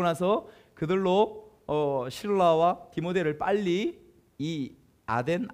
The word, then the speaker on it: 아덴: 그들로 신라와 디모데를 빨리이 아덴 아테네 여러분 아테네는 아시죠 아덴이 바로 아테네입니다 아테는 헬라어 아테네는 영어식 발음이에요 그리스 아테네 아시죠 아테네